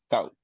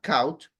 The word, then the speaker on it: caught: Caught, It's not count, caught.